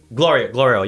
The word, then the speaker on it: Glorio: The guy, Johnny, how you say his name? Glorio? Glorio, yeah. Glorio, that's the guy.